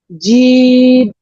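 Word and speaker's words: جيم: এটা বলার সময় আমাদের জিহ্বা মধ্যখানটা তালুর দিকে চলে যাবে। আমাকে একটু লক্ষ্য রাখুন, দেখেন আমি কিভাবে উচ্চারণ করছি। জিম, জিম, জিম।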